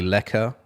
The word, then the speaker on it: lekker: But their music's great, and apparently Lekker. I don't know if you say Lekker, how it's pronounced. So Lekker. I was saying it.